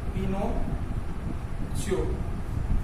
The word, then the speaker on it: Pinocchio: Mitro, anu pronunciation khas ek dhyan rakhvanu chhe. Pinocchio.